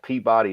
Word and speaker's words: Peabody: I go teach up at SIG, and there's like a town called Peabody, Massachusetts, and it's Peabody. How would y'all pronounce that?